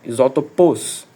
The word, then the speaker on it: isótopos: Isótopos, você vai falar a a última meio que como se fosse a última sílaba o mais forte possível. Esquece esse asso. Isótopos.